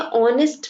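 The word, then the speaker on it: honest: ठीक है, यहाँ पर देखिए जब आप कहते हैं ऑनेस्ट मैन, यहाँ पर एच साइलेंट है, आपको ओ की साउंड आ रही है जो कि एक वॉवल है, इसीलिए यहाँ एन लगा है.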